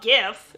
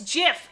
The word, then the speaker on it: GIF: you know i'd love gif no it's jif everybody knows it's jif you say it like jiff it's fine rut what have i